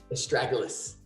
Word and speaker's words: Astragalus: So Astragalus, how do you say it again? I can never say it very well. Astragalus.